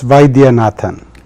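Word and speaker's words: Vaidyanathan: your last name but let's let's have you pronounce it it's Vian vatan that's correct I I always destroy it so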